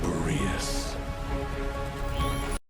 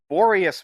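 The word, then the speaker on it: Boreas: Goldenired traveler, give this token to the current knight of Bereus. Borius, man, come on. Say it right.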